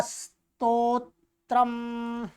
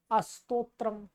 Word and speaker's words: स्तोत्रम्: ठीक क्या है स्तोत्रम ध्यान देंगे इसका उच्चारण श ठीक करना सीखेंगे स्तोत्रम कुछ लोग इसको बोलते हैं स्तोत्रम कुछ बो लोग बोलते हैं इसको अस्तो तरम कुछ बोलते हैं स स्तोत्रम स्तोत्रम स्तोत्रम अथ गला स्तोत्रम बोलिएगा